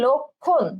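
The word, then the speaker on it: লক্ষ্মণ: যক্ষা, একইভাবে কিন্তু এই ম ফলা উচ্চারণ হবে না, ঠিক আছে? তাহলে লক্ষণ, লক্ষণ।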